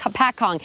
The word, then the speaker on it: Hopatcong: the ice no yeah no you didn't say it right but you know what it's a it's a difficult thing to say it's a pat Kong ho Pat Kong Lake Hopatcong in central Northern New